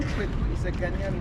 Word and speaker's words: Kweku: The name Kweku is a Ghanaian name, born on Wednesday, but the Kweku was corrupted into Kwak. Because British could not pronounce our names properly. So instead of Kweku, they said Kwak.